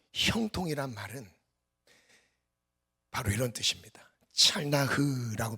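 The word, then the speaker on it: צלח: 찰나흐라고 발음을 하는데, 이 형통은 장애물이 있음에도 불구하고 전진하는 거예요.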